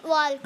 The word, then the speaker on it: walk: You are able to walk. यू are able to वॉक। वॉक आप बार बार बोलते हो, just Walk, correct that walk, because L is silent there.